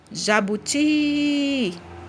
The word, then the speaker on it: jabuti: Ó, jabuti. Então, o que eu demorei mais falando foi o ti. Então, o ti é a sílaba tônica.